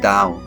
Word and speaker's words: Tao: The central concept is the Tao, pronounced Dao, which means the way.